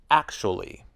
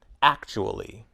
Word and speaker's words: actually: interesting interested most people say actually with three syllables actually but some people use four syllables actually listen to these words